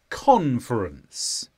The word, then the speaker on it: conference: this is a noun the stress is on Con conference and this means a